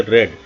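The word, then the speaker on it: read: प्रयोग किया गया है लेकिन इसको पढ़ेंगे रेड क्योंकि रीड का जो हमारा first second third form same होती है रीड रेड रेड तो यहां पर थर्ड फॉर्म रेड लेकिन स्पेलिंग सेम रहती है मैं कार चला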